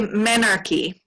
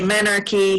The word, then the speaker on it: menarche: I say Menarche. Menarche. Which is sort of the American English version, I think, but I could be wrong.